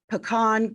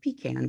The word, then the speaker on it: pecan: And last but not least, depending on how you say it, it's National Pecan Cookie Day or Pecan Cookie Day.